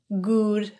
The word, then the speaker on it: good: have a good one the vowel in good is an Upsilon vowel rather than ooh or that ooh pronunciation that's often confused with the Upsilon vowel is pronounced with a more relaxed lip position than oo and the tongue and the jaw are in a more neutral position as well it's kind of like a lazy pronunciation of ooh good good have a